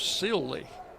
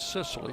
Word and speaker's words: Sely: The third baseman is Sely, not Sicily.